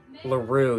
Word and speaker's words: LaRue: And the reason I love this album is because you have Clifford Brown's recording, LaRue, yeah, that's how you pronounce it, which he wrote for his wife, and I think he played it on the beach.